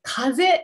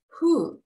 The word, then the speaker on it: 風: 風。これ風じゃないです。風です。